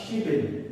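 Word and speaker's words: 십일: বিয়োগ যদি মিডিলে যায় তাহলে বিয়োগের উচ্চারণ ব করতে হয়, এখানে ব হলে বিল হয়ে যায়, অর্থাৎ শিবিল, শিবিল।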